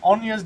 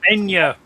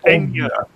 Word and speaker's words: Enya: Enya. Not Anya. Enya. Enya. I'm fairly sure that when she says her name, she has a bit of a pronunciation to it. That's because she's Irish. It's an accent.